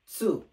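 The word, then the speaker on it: つ: করেন তা তি তু এটা তি অথবা তু হয় নাই কেন না এটা তি হবে না এটা মানে একটু গলার ভিতর থেকে প্রোনাউন্সিয়েশনটা করতে হবে সু আরেকবার প্রোনাউন্সিয়েশনটা বলতেছি তা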